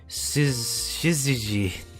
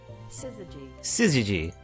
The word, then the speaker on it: syzygy: The anima and animus shiziji.